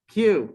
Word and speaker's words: queue: all at once sorry q that is right remember to pronounce q you just simply say the first letter and forget about all the other ones um right so buffers